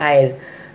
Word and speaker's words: isle: Then again A-I-S-L-E, that also S is silent there, so we are reading as a isle. I-L-E, isle, and A-I-L-E, isle, both are the same sound.